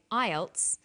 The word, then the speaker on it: IELTS: acronym with an acronym we don't pronounce the individual letters we pronounce it as a word so we say IELTS not i e l